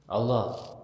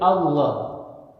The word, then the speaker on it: Allah: Kristen menyebut Allah ya tapi Allah jadi menyebutkannya dengan tafhim tebal ya dengan suara yang tebal di situ ada pengagungan Ketika kita menyebut Allah ya itu jadi ada pengagungan dalam pengucapannya saja ya beda dengan Allah kalau